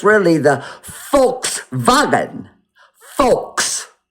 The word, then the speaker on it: Volkswagen: Forishite that v is pronounced f like f. So when you see the word volk vulkwagon the volkswagon it's really the folks vagen.